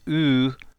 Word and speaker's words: eu: It's written EU, but don't ask me why. We pronounce it U, just like the letter U.